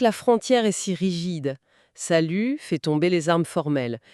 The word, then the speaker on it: salut: Si on prend le mot salut, il s'écrit s a l u t. Mais l'instruction formelle de cette première leçon est super catégorique. Il ne faut surtout pas prononcer le t final. On dit salut.